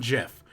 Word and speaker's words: GIF: honestly it's it's like gif and jiff yeah the guy who created it says it's pronounced jiff but yeah no ever